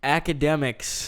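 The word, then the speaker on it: Akademiks: Academics. Academics. That's the funny part too. The word is academics, and Kyle can't say it. Dude, it's spelled all I know. funky. It's spelled weird.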